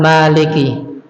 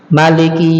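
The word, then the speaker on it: مالك: Tentang maliki. Ma ini bisa dibaca panjang, bisa dibaca pendek. Bisa dibaca maliki yaumiddin, boleh dibaca pendek atau dibaca panjang, maliki yaumiddin.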